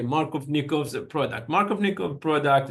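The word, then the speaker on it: Markovnikov: me double check the it's a Russian name let me double check the pronunciation for it and so it's marov yes the pronunciation is going to be Mar of nikov product Mark of nikov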